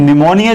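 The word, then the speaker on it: pneumonia: share है और घने समस्या रहा है लेकिन निमोनिया आपको लिखेंगे ना निमोनिया लिखते हैं नी न्यूमोनिया से शुरू होता है और इसमें साइलेंट होता है ना रो रो निमोनिया लाइक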